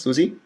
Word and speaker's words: Zuzi: today with Susie is that correctly pronounced Susie yeah right that's right and I'm actually calling